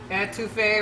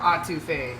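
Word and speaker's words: étouffée: Entouffee or Entouffee. Really depends who you talk to.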